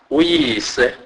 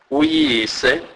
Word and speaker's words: uyise: Y is pronounced as ye, ye, as in English word yeast. E.g., uyise, uyise, his father or her father.